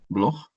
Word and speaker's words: Bloch: Sería Marc Bloch, Bloch como si fuera G, Bloch, y Lucien Febvre.